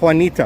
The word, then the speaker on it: Juanita: J in Juanita is pronounced with H. So it's kind of like Juanita, right?